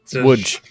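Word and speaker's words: Łódź: Woods. Whatever. I'm trying to get north. Are you cramming consonants together again, Ben? No, that's how it's pronounced.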